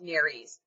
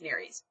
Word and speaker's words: nares: the word nares okay I've heard it pronounced Neary's I think I'm wrong I think it's Nerys um which are your